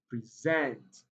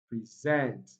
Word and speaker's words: present: Now, like I said, verbs are often stressed on the second syllable or the last syllable. Okay. And apart from that, we have present. It also contains the vowel sound, which is a strong vowel sound. So the stress pattern falls, or the stress falls on present.